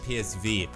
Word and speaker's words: PSV: league bei psv eindhoven warum sage ich psw weil das die holländische aussprache des psv könnte man auch sagen ja aber ich sage psw weil es aber die niederländische aussprache davon ist und das ist eigentlich